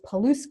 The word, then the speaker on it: Paluszkiewicz: who are taking notes my last name is paluska which and it's the way it sounds